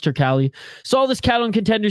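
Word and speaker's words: Turkalj: to beat Anton tural it's it's tural right that's how it's pronounced I know people are saying tural but it's pronounced tural saw this cat on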